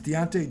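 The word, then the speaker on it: Diontae: about on Dodson because it's d-i-o-i-t something but I don't think it's pronounced like that it's not pronounced like that it's Deontay Johnson foreign and he's better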